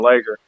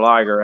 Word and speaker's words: Liger: name of Fusion Thunder Lager. Or Fusion Thunder Liger, however you want to pronounce his name. Some people pronounce it different, but he was like old school.